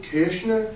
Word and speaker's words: Koechner: my grandfather was adopted I'm actually not a keker or as you would probably try to pronounce it kishner which would be closer to the correct pronunciation of my last name but I grew up